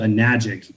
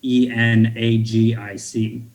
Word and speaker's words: Enagic: Can you spell it? Yeah, Kangen water. Kangen. It's made by a company called Enagic, Enagic.